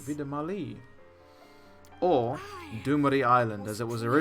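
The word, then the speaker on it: Vie de Marli: I've been pronouncing it wrong this entire time. Saying Vida Marley, but it's apparently Vida Marley.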